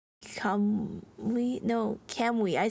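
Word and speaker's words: Kamui: Clamp and the main character's name is Kamwi, right? Oh, is that how you pronounce that name? I I always said I said come we no can we I said can we it's cutting out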